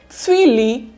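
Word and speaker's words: цвели: And the me, we, ani, tswili. Again, stress is on the last vowel, e.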